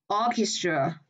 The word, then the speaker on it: orchestra: Vậy CH này nó sẽ đọc là K.